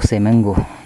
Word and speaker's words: Semenggoh: this is songo reporting from simong go oh seango the non-ai version pronunciation see you bye-bye